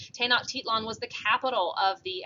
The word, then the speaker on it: Tenochtitlan: it included um this city tenochtitlan that is pronounced tenochtitlan tanakh titlon was the capital of the aztec empire this